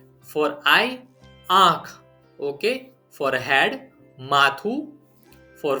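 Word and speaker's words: આંખ: For eye, aankh.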